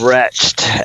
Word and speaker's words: Retched: world of wretched oh the world of wretched actually is how you say it oh it looks